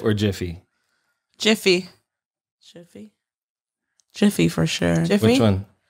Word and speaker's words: Jif: It's either Jif or Jiffy. Jiffy. Jiffy. Jiffy for sure. Jiffy? Which one? Jiffy. Jiffy? It's Jif. Or how do you pronounce it? Jif. Jif. But it's not with the Y.